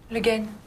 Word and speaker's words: Le Guin: How do you pronounce that? Le Guin.